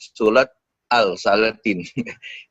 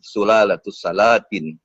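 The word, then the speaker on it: Sulalatus Salatin: Jadi kalau salatus salatin kadang ada menyebut salat alsatin itu juga seperti bunyi pelat ya. Jadi salalatus salatin itu mungkin hal remeh.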